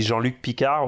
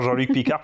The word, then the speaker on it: Jean-Luc Picard: Je crois que depuis Neck J, quoi, vraiment depuis la série, c'est la première fois qu'on entend Jean-Luc Picard prononcer à la française.